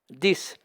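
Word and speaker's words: dix: 10 s'écrit avec un X à la fin qui se prononce S.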